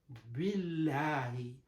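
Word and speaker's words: بالله: It is due to this B, because the B has the kafra on that, so due to that reason, when we are pronouncing it, so it becomes billahi, billahi. But normally when the other area we are pronouncing, innallaha, innallaha, mouth should be heavy at that time. But here in this situation, because the kafra proceeding to that, billahi.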